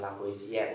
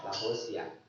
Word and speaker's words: Lavoisier: Nah, jadi Lavoisier, bacanya bukan Lavoisier ya, Lavoisier. Nah, itu bahasa Prancis kalau tidak salah, yang